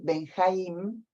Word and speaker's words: Benjaim: Bueno, sobre todas estas cosas, hoy invitamos a David Benjaim. Yo lo pronuncio así porque mi papá se llamaba Jaim, así que Ben Jaim quiere decir hijo de Jaim, de Jaime, sería la traducción en castellano.